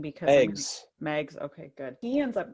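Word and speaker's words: Meigs: mags how do you say his name because Megs okay good he ends up going down there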